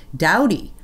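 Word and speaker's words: Doughty: u.s district judge terry dowdy i think that's spelled i think that's pronounced right it's spelled d-o-u-d-o-u-g-h-t-y of louisiana then expanded that injunction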